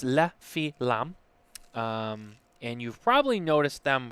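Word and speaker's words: Les Fines Lames: Because I don't speak French, and but it's pronounced La Filam, and you've probably noticed them from their knife cutters.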